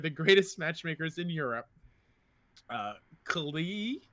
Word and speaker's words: Keighley: In order to help them, they hired the greatest matchmakers in Europe, Keighley, the Y is silent, and Josve.